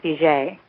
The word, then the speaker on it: Fugate: we're from Louisiana, and the pronunciation is Fugate, even though never get that from the spelling.